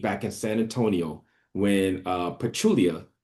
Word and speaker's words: Pachulia: I really believe back in San Antonio when Pachulia, I think is how you say it, Zaza Pachulia. Pachulia. Yeah, Pachulia, you're right.